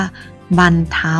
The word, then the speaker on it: บรรเทา: หัน อากาศ นะ คะ คำ นี้ เนี่ย เรา เดือน 2 ตัว ก็ หมาย ถึง ไม้ หัน อากาศ เรา จะ อ่าน ว่า บัน เท่า นะ คะ อะ ไม่ หัน อากาศ แล้ว ก็ มี นอน หนู อยู่ ข้าง หลัง นะ อ่าน ว่า บรรเทา ม.ค ก็ กลับ ไป คำ